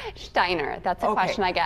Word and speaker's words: Stajner: Stajner.